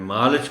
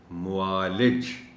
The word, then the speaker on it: معالج: ساتھ پڑھ دیا تھا، میں نے معالج پڑھ دیا تھا۔ یہ لفظ درست تلفظ کے ساتھ ہے معالج۔ اب اس کا ایک